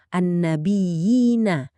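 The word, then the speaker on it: النبيين: Pelafalan yang tepat adalah annabiyina dengan penekanan dua harakat pada ya yang bertasydid. Penekanan inilah yang berfungsi untuk memantapkan bunyinya agar terdengar jelas dan enggak samar.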